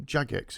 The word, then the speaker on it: Jagex: audience here from what's the name of them jagex isn't it is that how you say it